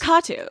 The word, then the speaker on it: Kattoo: And then also, like a lot of Middle Eastern names and words, the emphasis is on the first syllable and not the second.